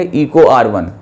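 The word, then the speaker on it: EcoRI: ये एक एग्जाम्पल है रिस्ट्रिक्शन एंजाइम का, जिसको आप क्या प्रोनाउंसिएशन करेंगे, इको R1।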